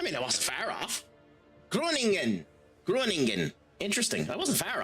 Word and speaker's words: Groningen: So it's Groningen. Groningen. So I have butchered that pronunciation.